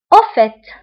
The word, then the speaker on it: au fait: بالمناسبة au fait. Au fait. هنا أيضا كنطقو التي في آخر الكلمة.